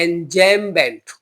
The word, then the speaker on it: enjambment: तो उसको बोलते हैं एंजेममेंट। एंजेममेंट बोलते हैं इसको, और इसकी स्पेलिंग है ENJAMBMENT।